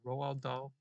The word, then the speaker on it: Roald Dahl: How do you pronounce his name? Roald Dahl.